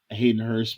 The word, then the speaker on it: Hayden Hurst: Hayden Hurst makes his triumphant return back.